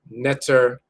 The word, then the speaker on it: ntr: to study the language, we're just sticking E in between the consonants. So you often see that as netter or netcher, but it's spelled NTR.